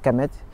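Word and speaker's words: Kemet: Et si on parle Kamet, Kamet, ça signifie dans l'ancien égyptien, ça signifie noir.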